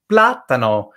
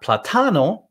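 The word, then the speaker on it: plátano: here so uh for platano okay so the second to last vowel is a so it's not platano or platano on the last one it's we're telling you move it to the front and that's why it's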